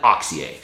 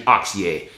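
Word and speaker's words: Auxier: and I've recently discovered Jonathan oxier uh spelled aux i r French pronunciation oxier he described himself as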